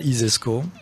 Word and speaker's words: ISESCO: alors lesz-y alors l'ISESCO si vous considz ça isesco euh comme ça se prononce hein i euh is e donc si